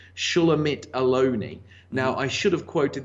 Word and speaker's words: Shulamit Aloni: I believe her name is pronounced Shulamit Aloni.